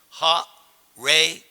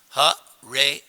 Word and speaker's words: Hare: change it you just pronounce each syllable ha ray Krrish not huh ray Rama it's perfect pure